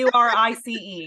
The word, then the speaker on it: Maurice: Is it Maurice? I thought it was Morse. Whatever. Pronunciation. Maurice. Katie Maurice.